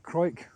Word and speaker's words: Crawick: This is the Crawick, I'll pronounce it correctly, the Crawick Multiverse by Charles Jencks.